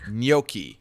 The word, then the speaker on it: gnocchi: educate me on the um how do you pronounce it gnocchi gnocchi there we go boom nail yeah all right